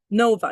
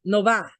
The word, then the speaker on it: Nova: story behind it but Nova you break that into two syllables no but the VA in Spanish is like ba these are like ba right so Nova Nova hey Los Gators but